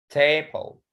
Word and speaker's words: table: Okay, table. So the stress on the first.